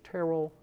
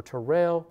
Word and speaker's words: Terrell: the widow Mary Church Terrell or Terrell I hear that pronounced two ways with Ainge his funeral 1912 and of course Robert Church jr.